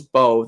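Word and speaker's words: Mbow: Marcus Bowe, the M is silent.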